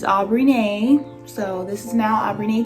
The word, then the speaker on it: Aubrineé: and that's what i'm going to say on that period yeah i'm biggity back how you pronounce my name is aubrey nae so this is now